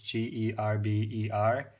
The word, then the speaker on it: Gerber: I know how to spell it. It's GERBER, and it's gerber.